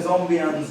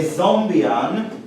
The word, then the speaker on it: zombian: the concepts so uh a zombian should rhyme with well should be something that that people like me might want to compute and it kind of rhymes with uh Hessian bronsky and lagrangian zombie and something